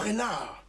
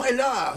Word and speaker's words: Reinhardt: Now let's go back to this young man, Django Reinhardt. And I'm saying that with a French accent because, of course, it was actually Belgian French. Django Reinhardt.